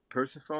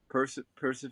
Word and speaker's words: Persephone: Persephone, Persephone.